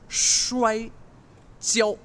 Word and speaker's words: 摔跤: So wrestling is shui, S-H, shui jiao. Shui, joy. Almost. Joy, Jiao, Joe, jiao. Joe.